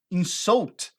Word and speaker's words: insult: seu teste do whites mudando a pronúncia dela para em South Olha a ênfase no final em South você tá mostrando para